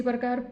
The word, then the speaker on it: perk: इसी प्रकार PERK, यहाँ पर भी आर के बाद व्यंजन आ गया है तो इसका भी उच्चारण हम क्या करेंगे, आधा अ के रूप में करेंगे। तो इसको हम क्या पढ़ेंगे, पर्क मीन्स उबाल आना।